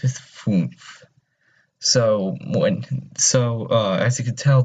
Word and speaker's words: fünf: So whenever you have that umlaut, so you kind of just want to pronounce the U, the U as a U, so fünf.